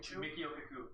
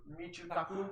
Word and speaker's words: Michio Kaku: The one like physicist that I'm like really like know their name is like Mikio Kaku. Michio Kaku. Ah. Oh, put emphasis on another syllable.